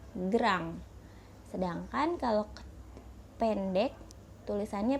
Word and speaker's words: grand: kalau dalam bahasa Perancis penulisannya itu grand2 Pi dibacanya gram sedangkan kalau ke pendek tulisannya pethit tapi dibacanya